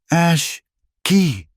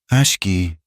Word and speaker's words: Ashki: She tried to say his name. Ashi. It was a clumsy Anglo sound. He said it for her, his voice low. Ashki. He gave the hard K sound the respect it was due.